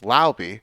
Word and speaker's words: Laube: Dylan Laube, who I now realize should be pronounced Laube, the running back from New Hampshire.